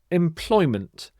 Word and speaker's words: employment: the next word is employment employment employment is having a paid job or work arrangement with an employer and you put the stress on this middle syllable Ploy employment I am seeking full-time